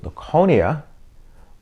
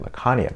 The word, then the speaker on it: Laconia: been saying it wrong I think I've been calling it Laconia but it's Laconia so anyway hopefully uh